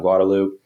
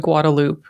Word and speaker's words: Guadalupe: We should point out Lance said Guadaloop and we know it's Guadalupe. Yes. But that's how everyone here pronounces it just like uh Manor.